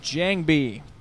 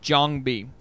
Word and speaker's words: JangBi: So, hey, it's going to be the first hit between Midas and JangBi, or JangBi, if you want to pronounce it correctly, on RI2 in the round of 16 of the Hana Daetoo MSL 2010 spring season.